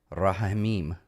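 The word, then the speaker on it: רחמים: In Rahamim is pronounced like the Spanish J-A in jalapeno.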